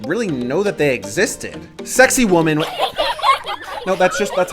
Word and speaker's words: Sacsayhuaman: Sacsayhuaman-- No that's just-- that's how it's pronounced.